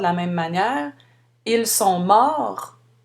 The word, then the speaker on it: morts: on prononce le R, mais on ne prononce pas le T ni le S, alors qu'au féminin, on ajoute le E et on doit maintenant prononcer le T. Elles sont mortes.